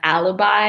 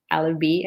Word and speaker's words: alibi: to their pronunciation of alibi it's a very common mistake for students to say it alla be I think but it's alibi make sure we pay